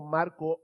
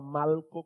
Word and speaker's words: Malco: que se llamaba Malco, y no estoy pronunciando Marco mal, es que se llamaba Malco con L.